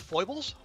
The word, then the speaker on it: foibles: human in my fobbles wait fobbles not foibles fobbles first time I've heard it pronounced that way however you forget my training